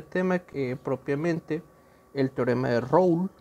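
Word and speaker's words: Rolle: propiamente el teorema de road en francés se pronuncia road para ello para encontrar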